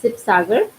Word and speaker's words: Sivasagar: It's Sibsagar, Sivasagar, but it can be pronounced as Sibsagar also.